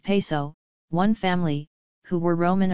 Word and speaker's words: Piso: creation of the Calpurnius Piso, pronounced Peso, one family, who were Roman aristocrats.